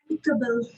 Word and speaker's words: amicable: Amicable. Amicable. Okay, first syllable stress is on the first part.